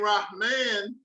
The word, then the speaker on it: Rahman: Sufi Sek took out a pen and wrote, the name Rahman generally does not have a long A sound.